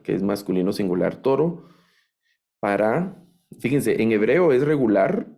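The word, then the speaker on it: פַּר: vacuno masculino verdad toro Esta es una letra p y tiene daguesh aquí suena como nuestra letra p p de papá o de pepino verdad esa ese sonido tiene una pata que suena a y una red que es el sonido de la r aquí dice par par Así suena esa palabra par entonces tengo par que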